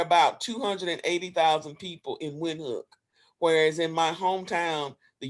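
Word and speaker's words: Windhoek: i'm pronouncing that correctly i usually just say wind look i pronounce it like a w but you're supposed to pronounce it with the v so there are about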